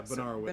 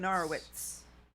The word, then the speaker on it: Benarowitz: The TZ sound at the end. Yeah, Benarowitz. Benarowitz. Okay. Benarowitz.